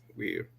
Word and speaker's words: Weir: José Ángel Quintero Weir, o Weir, Uy, Weir, que así es como se pronuncia, es un, es un